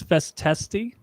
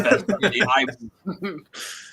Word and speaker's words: festisti: I thought it was festesti. It is festisti.